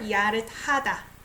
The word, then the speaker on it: 야릇하다: So look up the verb 야릇하다. Like I say, it sounds like T.